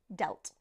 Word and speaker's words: dealt: economy it damaged it notice here how the past form of deal is dealt which has a different pronunciation so we're going from The Sound e to the sound e yes we have deal and delt okay let's look at